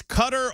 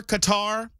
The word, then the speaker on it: Qatar: help me pronounce cutter it's cutter or Qatar I've heard it both ways and I'm not going